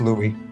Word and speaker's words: Louis: By the way, Shiro, as a heads up for next lines, in French, the word Louis, the S is silent, it's just Louis.